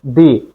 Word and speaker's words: the: বাউয়েলের আগে উচ্চারণ করব দি বাউলের আগে উচ্চারণ করব দি আবার বলি কনসোনেন্টের আগে উচ্চারণ করব দা বাউলের আগে উচ্চারণ করব